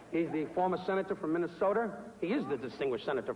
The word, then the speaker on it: Minnesota: He's the former senator from Minnesota. He is the distinguished senator from Minnesota. He will be the former senator from Minnesota. Not Minnesota, it's Minnesota.